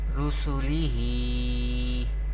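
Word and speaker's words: رسله: ha khada zer hi, rusulihi. Here ha has khadi harakat, that is khada zer, and we know khadi harakat or vertical harakat we pronounce by stretching up to one alif or two harakat. Rusulihi.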